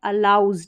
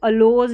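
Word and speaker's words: allows: ऐसा आगे देखें, इट्स अलाउज, अलाउ करना, यह है अलाउज, ठीक है, इसको अलोज नहीं पढ़ना है, मौका देता है या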